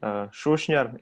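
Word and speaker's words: Šušnjar: Hello, well, I'm Shushnyar, it's pronounced, I know it's hard, yeah, but it's a Croatian surname.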